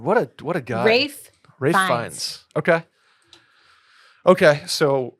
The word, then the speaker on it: Ralph: I'm looking at Oh, it's Rafe. It's pronounced Rafe. It's like almost like Rafe.